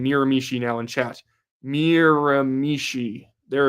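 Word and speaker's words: Miramichi: Yes, everyone is saying Miramishi now in chat.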